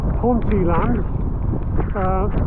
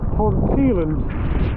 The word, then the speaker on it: Ponteland: heading to a place often mispronounced haunty life which is actually really called ponteland and it is from